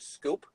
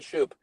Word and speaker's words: Schoop: pronounce the second base is it scoop soup Jonathan shoot Jonathan Schoop should be yeah but he's not